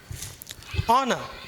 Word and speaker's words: honour: It is an honor. Next இது உங்களுக்கு தெரியும், ஆதாம் ஏவாள் காலத்துலேருந்து தெரியும். ஆறுங்கிறதுல வந்து ஹெச் சைலண்ட்டு, அப்போ an ஆர்.